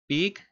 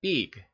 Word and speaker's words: Big: So his name is a Big, it's like pig, yeah, but we a little pronounce a little more stronger like Big, and then the follow is a Mika.